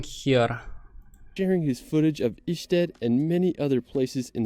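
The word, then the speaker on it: Ještěd: Afterwards, we're going to head to the north of the country to visit Isted. Now, located right near the Isted. I was about to pronounce it Jested.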